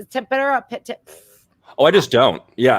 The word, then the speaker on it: tempera: It's tempera.